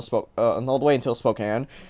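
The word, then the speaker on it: Spokane: the way until spoke all the way until Spokan like that and yes that is how you pronounce it I looked it up I looked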